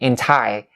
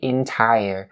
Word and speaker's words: entire: So tire and entire, because I know that a lot of non-native speakers would probably underestimate the sound at the end of the word entire, and so they'll say entire, and it's not going to be correct. You have to say entire.